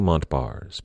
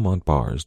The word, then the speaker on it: Montbars: point out that Daniel Montbars did not pronounce his name that way. He was French, after all. His last name was pronounced something a little closer to Montbar, but in the interest